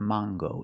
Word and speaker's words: mango: Use the long A. It's not mango and it's not mango. In English, it is mango. With this word, we pronounce the hard G sound. So it's mango.